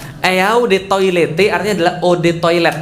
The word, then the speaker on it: eau de toilette: mau sombong banget eau de toilette artinya adalah Ode toilet bacanya e-awb atau odd saatnya air toilet ya toilet